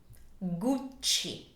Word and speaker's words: Gucci: definitely Gucci guci so keep in mind that when you have a uh C followed by e or I in Italian it's a soft sound like in the word church also this is a double C so we have two C's so you need to elongate a little bit so it sounds